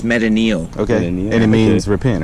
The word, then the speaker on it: metanoia: by the way it's not even pronounced metanoia okay my name is that's fair pronunciation how would you pronounce it it's meta neil okay and it means